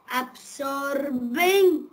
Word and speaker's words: absorbing: Meena, in the spelling A-B-S-O-R, the letter R is silent. It is not absorbing. Absorbing. That will be wrong. We must say absorbing.